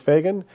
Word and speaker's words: Fagan: I said Fagan. Was that wrong? No, that is correct.